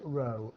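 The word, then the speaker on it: rho: like a curly P it's part of the Greek alphabet and it's pronounced row and spell rhl row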